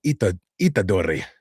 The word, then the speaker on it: Itadori: My Itadori.